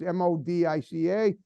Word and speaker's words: Modica: Frank Modica, he goes by, but it's Modica. He says it's like potato and potato, whatever. His family pronounces it differently, but I wanted to make sure I said it the way he liked it.